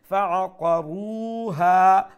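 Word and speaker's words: فَعَقَرُوهَا: Fa'aqaru fa'aqa taratari. Qaf full mouth khori. Ar-ra waw pesh ru ek alif lamba. Ha abar ek alif lamba. এখানে ওয়াও মাদ্দা এখানে আলিফ মাদ্দা ফাআকারুহা ফাআকারুহা ফাদামদাম তাড়াতাড়ি ফাদামদাম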